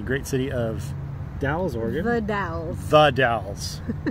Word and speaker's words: The Dalles: The Dalles.